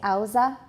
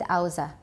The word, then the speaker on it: Hausa: and by the way some say aoza I had a Nigerian housemate at Princeton and he said aoza and I asked somebody else and he said they're both pronunciations I guess they're different different means we'll have different pronunciations so how's that are both okay we can say hausa closure are formed at